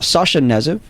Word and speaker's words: Sasha Knezev: And we have in the studio, we have the director and writer, one of the co-writers, Sasha Knezev. Correct. Is that correct? That's correct. And K is silent.